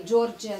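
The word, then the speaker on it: Georgia: Есть страна Джорджия, по-английски она звучит Джорджия, по-русски она произносится как Грузия.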